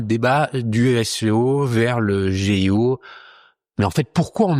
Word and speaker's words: GEO: Faudrait le dire à l'anglaise, à la française, on dit SEO en français, mais c'est prononcé à l'anglaise. Là, on dit GEO parce que G, c'est J.